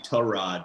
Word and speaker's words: Tyrod: living in that like tyrod taylor zone where he's like it's actually tarad but i don't care how you pronounce it i think kamara is